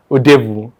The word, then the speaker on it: Udebu: I pronounced your surname right, did I? Udebu.